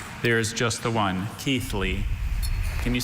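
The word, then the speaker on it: Keighley: Are there any alter pronunciations? There is just the one. Keithley.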